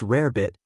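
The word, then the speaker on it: rarebit: This dish, pronounced rare bit, had crossed the Atlantic from Britain.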